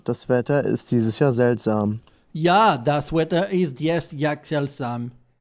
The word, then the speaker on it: seltsam: seltsam, could also be seltsam. Here we see that in Bavarian, the S is voiceless. It's not pronounced Z as in Standard German.